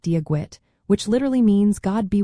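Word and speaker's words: Dia dhuit: A classic phrase is Diagwid, pronounced like Diagwit, which literally means God be with you.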